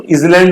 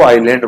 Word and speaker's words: island: Alphabet का नहीं आया, जैसे दीपक को अपन ISLAND लिखते हैं तो उसको इजलैंड नहीं बोलेंगे, उसको आइलैंड बोलेंगे, ठीक है ना, तो ऐसे ऑनियन नहीं बोलेंगे, अनियन बोलेंगे, ठीक है।